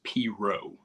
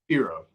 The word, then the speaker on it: pirogue: in Baton Rouge and everybody up here says proo and they very they like pronounce it proo they say it's stupid so